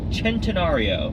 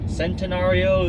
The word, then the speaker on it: Centenario: we have the Lamborghini centenario which kind of looks like centenario Centeno it just it looks like centenario but leave it to the Italians for one see a pronounced like a CH it is a supposed